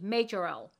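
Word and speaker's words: Majorelle: It's spelled M-A-J-O-R, like major, L-E-L-L-E, Majorel.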